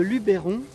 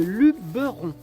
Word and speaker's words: Luberon: Alors déjà j'ai appris que on ne disait pas le Luberon mais le Luberon.